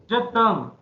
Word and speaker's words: je t'aime: E will get silenced into it, so the word gets combined and it will pronounce as a single sound.